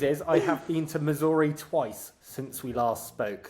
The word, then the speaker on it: Missouri: Missouri. Yeah. So a lot of people from there call it Missoura. They're like, oh, I'm from Missouri or Missou.